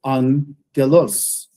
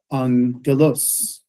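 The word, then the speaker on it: ἄγγελος: No, the double gamma is, it is, that's right. It's pronounced differently, but it's the time signature is the same. Mhm. Okay, so angelos, angelos, yeah, right?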